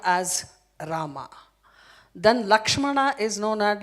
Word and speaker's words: Lakshmana: Lakshmana, to pronounce it's difficult. Lachumana is easy for tribal people. And that's why it is known as Lachumana.